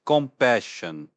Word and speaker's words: compassion: This one's pronounced compassion. Twoes in the middle. Watch out for that.